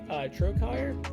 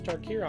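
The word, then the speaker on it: Trokair: Flagstones of Trokire, I never pronounced that out loud. I thought it was Tarkir, honestly, just until I've read that now.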